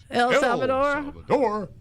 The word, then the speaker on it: El Salvador: El Salvador?